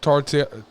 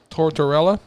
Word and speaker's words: Tortorella: who is that's my brother's like yeah Niko tortilla goddammit Tortorella as Trevor Sheldon I'm glad you have to pronounce these names I know Marlee Shelton plays dr.